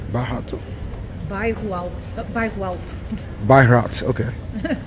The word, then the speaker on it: Bairro Alto: Right now we're still in Bairro Alto.